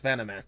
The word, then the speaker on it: Vanaman: I didn't realize this until after I was started saying like, oh crap, I did not ask if I how to pronounce Vanaman. That's it. Yeah, Van.